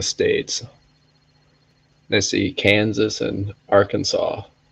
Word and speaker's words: Arkansas: When people start pronouncing the states, they see Kansas and Arkansas. Some people are going to say Arkansas, but no, it's Arkansas.